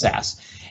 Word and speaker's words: SCSS: of the theme dot theme dot sas scss pronounced sas and in here you'll see all of the